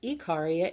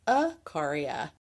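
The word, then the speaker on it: Ikaria: there it is the island of I've been pronouncing it wrong it's not e caria it's aaria the re recipe calls for three large Globe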